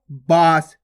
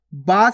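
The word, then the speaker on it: बाँस: ये क्या हो जाएगा बांस बांस केवल नाक से उच्चारण हो रहा है तो बांस और यहां पे कैसे कर रहे हैं अपन बास बास नाक और मुह दोनों से उच्चार हो रहा है अब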